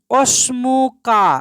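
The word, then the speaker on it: وَاسْمُكَ: আমার নাম শাহেদ এবার অসমুকা এবং তোমার নাম এখানে একটা খেয়াল করেন ওয়া এর পরে যে আলিফটা আছে এই আলিফটা কিন্তু সাইলেন্ট হবে লিখার সময় লিখতে হবে কিন্তু উচ্চারণ হবে না অসমুকা এবং তোমার নাম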